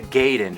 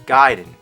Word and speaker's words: Gaiden: gaiden everyone always said ninja gaiden but I know for a fact it's guiding you know where I